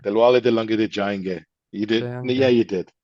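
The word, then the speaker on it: Dilwale Dulhania Le Jayenge: Dilwale Dilanga de Jayenge.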